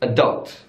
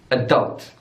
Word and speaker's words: adult: But in American English, it's adult, adult. So the stress is on the second syllable.